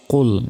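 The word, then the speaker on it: قُلْ: রাজিম বিসমিল্লাহির রাহমানির রাহিম কুল ইয়া আইয়ুহাল কাফিরুন এখানে কফ লাম পেশ কুল আমরা অনেকে বলি কুল কুল নয় কফ লাম পেশ কুল মোটা ভাবে উচ্চারণ হবে কুল ইয়া আলিফ জবর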